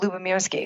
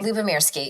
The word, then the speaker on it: Lubomirsky: And can you pronounce her last name for me? Sonia? Oh, Lubomirsky. Lubomirsky, yes.